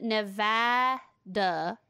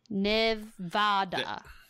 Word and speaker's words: Nevada: It says, don't call it Nevada or you'll be in trouble unless one legislator. Apparently, the only acceptable pronunciation of the state is Nevada.